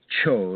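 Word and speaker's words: Chöd: One of the fear tests everybody that I give to people is is a is my own form of cho. It's a Tibetan term. It's spelled ch H O the umla or the O and D.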